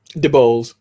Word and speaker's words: DeBose: DeBose.